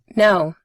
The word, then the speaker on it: no: La O se pronuncia igual que hello.